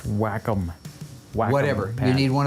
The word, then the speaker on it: Wacom: pad would you get on that oh it's pronounced Wacom wow whatever you need one of those to